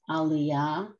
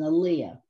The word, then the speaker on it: aliyah: Yes, in Hebrew, it's pronounced aliyah. In Yiddish, which most of us are used to saying, it's an aliyah.